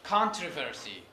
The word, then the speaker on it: controversy: of them yes yes some speakers say controversy okay primary stress is on the first syllable the first others others put it on the second syllable controversy controversy controversy yes